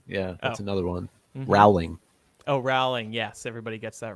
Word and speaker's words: Rowling: bowling what did you say Micah I said rolling yeah that's another one Rowling O'Reily yes everybody gets that wrong how did